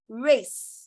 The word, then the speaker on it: race: Whenever a C follows letter E, it is usually soft. Okay. When I say soft C, it gives you the sound S. So this word is pronounced as race. Okay. Don't say rake.